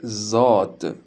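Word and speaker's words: ض: La lettre suivante s'appelle Zod. Et après Zol et Rezé, c'est la 3e lettre qui fait le son Z.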